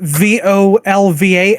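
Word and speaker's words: Völva: Yeah, because specifically that it's spelled with VOLVA and the O has an umlaut above it.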